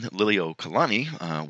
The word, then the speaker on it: Liliuokalani: acquired Hawaii and the first word is Queen Lily Oh Kalani I know it's kind of a little bit difficult to pronounce but Queen Liliuokalani was the last Hawaiian queen and she was